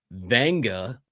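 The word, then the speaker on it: Vega: It is Venga. So, there's an N in there even though you can't see it, but Oh, Vanga Yoane.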